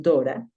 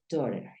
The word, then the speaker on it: daughter: hija podemos decir Dora hay algunos lugares donde lo pronuncian Dora O puedes decir dter dter o Dora de acuerdo donde estés en Australia es usual que digan Dora my Dora y en un inglés americano es más usual que digan daughter my